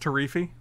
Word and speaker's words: Teferi: It's pronounced Tarifi. Sorry.